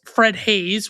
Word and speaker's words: Haise: Bill Paxton plays Fred Hayes, which is spelled Haise, not Hayes.